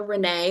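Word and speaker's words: Rinne: So we have the Weber and the Rene or the Rennie test, depending on how you pronounce it.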